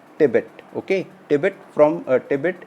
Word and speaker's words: Tibet: giant red from tibbett we call in hindi tibbat but in english we pronounce tibet okay tibet from a